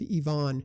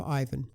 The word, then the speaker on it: Ivan: 11 Labs was on the mark on Ivan Drago the villain in Rocky IV with a Russian pronunciation of Yvonne rather than the English pronunciation of Ivan and Drago rather than Drago who was killed